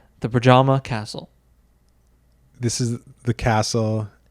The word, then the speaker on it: Predjama: Predjama? Pajama? Pajama? It's not pajama for sure. I think it's just, oh man, I wish I knew this coming in. I think it's just Yama. Yama.